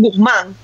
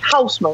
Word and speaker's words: Hausmann: mi apellido, aunque en Venezuela siempre me decían Guzmán. Porque no podía pronunciar. Porque Guzmán. Y yo como que, brother, es Hausman. O sea, como que, ¿dónde está la G en esa?